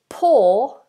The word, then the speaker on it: poor: The words poor as in to pour a drink and to be poor, to have no money. Pronounce them the same. Poor and poor.